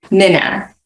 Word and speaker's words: Minna: So maybe could you just start actually from like little tiny, and is it Mina or Minna? Because I've heard it pronounced both ways. Minna.